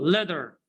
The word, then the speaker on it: letter: So leather, leather. So we will pronounce leather. So okay, leather, leather, boot or Buddha, Buddha, Buddha. Yeah, excellent. T here is between two vowels like that.